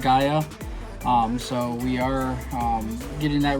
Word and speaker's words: Gaia: looked up how to pronounce it it is pronounced Gaia so we are getting that ready part of